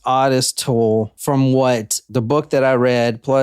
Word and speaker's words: Ottis Toole: when we're recording yeah I am it is pronounced odest toll from what the book that I read Plus